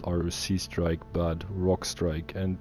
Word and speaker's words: Roc: Below, they introduced the level 26 strike, Vanguard Roc. Now, I heard a lot of people pronounce it Vanguard R.O.C, but in my opinion, that's not correct. It's called Vanguard Roc or Vanguard Rukh, depending on where you're coming from.